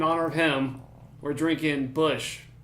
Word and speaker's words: Busch: In honor of him, we're drinking Bush. Not light, just Bush normal. But the C is silent. That way, it sounds more like the actual.